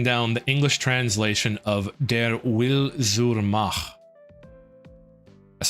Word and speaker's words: Der Wille zur Macht: Currently hunting down the English translation of Der Wille zur Macht. That's how you pronounce that.